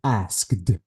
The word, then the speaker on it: asked: ask it okay uh this e is the e sound is deleted I have to say asked asked H what about this